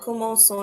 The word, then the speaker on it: commençons: And this happens to maintain that hissing sound of the letter C.